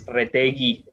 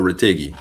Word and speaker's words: Retegui: the U is silent, so it's Retegi. Or Retegui.